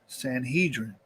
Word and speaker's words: Sanhedrin: the land was known by a greek name centrion or in hebrew pronunciation sanhedrin private life 2 was